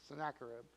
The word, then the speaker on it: Sennacherib: Sennacherib? Sennacherib? Sennacherib? Okay, I was very close. Sennacherib. Who is King Sennacherib? Nobody? Have you heard of him before? No? Really? All right, King Sennacherib is the king of Assyria in Nineveh, and